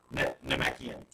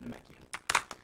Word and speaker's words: Namekian: Is it Namekian? Namekian. Namekian. That's how you say it. Namekian.